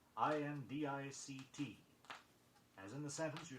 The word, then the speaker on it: indict: Don't put an extra sound in indict. I-N-D-I-C-T.